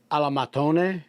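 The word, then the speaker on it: al mattone: um pressing them um Alam maton is how they say it in Italian maton is pressed between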